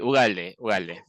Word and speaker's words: Ugalde: Bueno, ¿Se pronuncia así, tu apellido? sí, Ugalde.